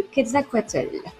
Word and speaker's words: Quetzalcoatl: alors ouais, parce que ça s'écrit pas du tout comme ça, mais pour avoir eu la chance d'aller plusieurs fois au Mexique, c'est comme ça que ça se prononce.